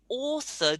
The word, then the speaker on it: author: because it's an au the word author do you remember we had that before like clause yeah the the au has to be that awesome good good author yeah stephen